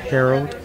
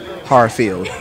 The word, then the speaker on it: Harreld: No, it's Harreld. It's actually pronounced Harreld. Okay. But it's better than when a teacher from maybe fourth or third grade pronouncing it Harfield. So if you say Harreld, you're right there.